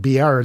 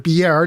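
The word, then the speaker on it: Biard: It's spelled B-I-A-R-D. I think Beard is the only way to pronounce that.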